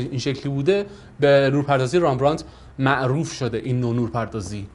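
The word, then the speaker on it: Rembrandt: اساتید زبان خواهشن اینجا ایراد نگیرن، به دلیل اینکه انگلیسیه و ممکنه هر کسی یه جوری تلفظ کنه، که تلفظ دقیقش میشه رامبراند یا رامبراند خودمون.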